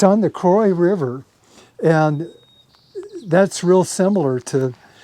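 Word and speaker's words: Croix: And he he came from a little town called Milltown on and I don't know how to pronounce this. C R O I X river. Croy Croy.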